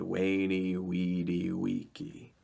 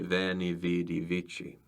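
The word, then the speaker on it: veni, vidi, vici: So people speaking ecclesiastical Latin would say venichi. The V's are hard, the C's are soft, and they changed the way some of the vowels sound.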